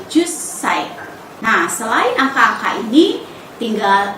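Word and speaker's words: 十歳: Dan 10 tahun bunyi ju-nya itu panjang, ju. Tapi ketika diucapkan untuk usia menjadi jussai.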